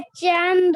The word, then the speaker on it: चंदा: आपने बोला चांद। च में आ की मात्रा नहीं है। आ की मात्रा कहाँ है? द के बाद है। तो चांद नहीं होगा, क्या हो जाएगा?